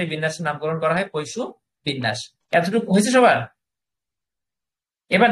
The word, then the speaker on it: Poisson: ফরাসি গণিতবিদ Simon Danish পৈশু, উচ্চারণটা পৈশু, কিন্তু ইংরেজিতে উচ্চারণটা আপনি পরীক্ষার জন্য মনে রাখেন পইসন, আপনি এভাবে মনে রাখেন, তাহলে বানানটা আপনার মনে থাকবে।